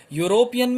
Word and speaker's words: European: European में e is your vowel, but it is having a sound of consonant.